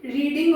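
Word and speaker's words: read: तो यहां पे रीडिंग हो जाएगा।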